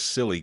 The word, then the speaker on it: CLLI: they're not using those silly codes. At that point, Bill laughed and he said, yes, they do use those silly codes, and that's what they're called. That's how they pronounce CLLI.